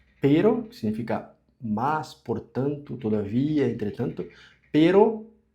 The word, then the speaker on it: pero: Então, perro, dois Rs forte e pero, que é só uma R.